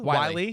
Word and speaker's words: Whyle: Josh Whyle. I think I'm saying it right. Wiley.